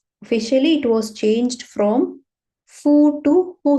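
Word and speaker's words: ふ: f or who so according to the series it is Hu right but the pronunciation mostly we will be using Fu right this is because of some historical change right so initially this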